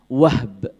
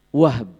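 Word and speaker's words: وهب: kakeknya nabi dari ibunya adalah wahb wahb jadi h-nya disukun ya pakai ba Waw ha ba di sini kan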